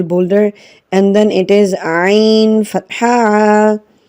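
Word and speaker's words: عين: and then it is ein ein kaspari reinder this iron it comes from the middle of the throat as in my lesson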